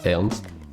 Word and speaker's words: Ernst: Ernst, E-R-N-S-T. Ok, comme ça se prononce quoi.